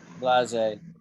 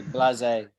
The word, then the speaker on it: blasé: We'd say blasé. Blasé. Blase. And blasé sounds a bit like blazer.